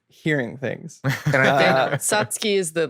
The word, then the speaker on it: Satsuki: And I think Satsuki is the like correct Yeah, pronunciation.